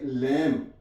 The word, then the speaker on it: lamb: For example, LAMB, इसे हम क्या पढ़ेंगे? लैम, यहां पे बी साइलेंट है।